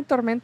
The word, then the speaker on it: Tormenta: Yeah, Tormenta, yeah. Tormenta. You pronounce it See, really I'm part good.